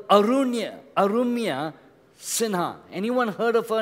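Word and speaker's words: Arunima Sinha: A person called Arumya Sinha. Anyone heard of her name? She's in Bombay. Her name is Arumya. You can write it down. I'll spell it. A-R-U-N-I-M-A. Her name, Arumya Sinha. S-I-N-H-A. Arumya Sinha.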